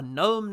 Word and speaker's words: gnome: he also wrote a gnome named Norm a normal spell also with a silent G oh a good gnome